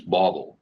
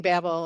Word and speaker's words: Bobble: b l okay and I think I've saying it wrong Miss Bobble it's Bobble correct Bobble yeah oh it is Bobble like a bobblehead exactly exactly oh okay yeah that's okay everyone yeah I was saying Babel as well I'm sorry